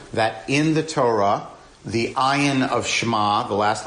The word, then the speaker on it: ayin: Aleph is silent and it's just a placeholder for whatever vowel, and ayin is guttural, so it's I can't do it, and it won't come across on Zoom.